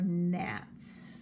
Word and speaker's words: gnats: Those are gnats, spelled with a G.